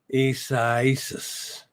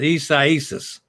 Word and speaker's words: Isaias: So, Isaias. Sonny says, Isaias. That's it. Sonny's got it.